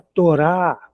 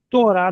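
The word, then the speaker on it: תורה: Torá nós já sabemos que é a lei de Moisés, é o Pentateuco. Torá, t o R A. E o H no final sem som.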